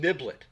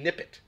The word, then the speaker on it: Nippet: I was calling Niblet. AJ, thanks for coming into the chat tonight. I was calling him Niblet. It's actually Nippet. That's how it's pronounced.